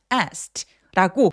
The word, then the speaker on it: asked: 그래서는 통으로 트로 발음을 합니다. 그러니까 내 눈에 a도 보이고 e도 보이는데 그냥 asked라고 하나의 소리로만내는 거예요.